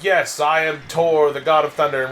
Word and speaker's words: Thor: like yes i am tore the god of thunder and we're like oh no the h is silent it's like huh really